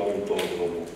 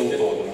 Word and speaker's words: autodromo: Io lo pronuncio così, credo che sia corretto autodromo, con l'accento sì, perché ci discuto, io lo pronuncio autodromo, va bene?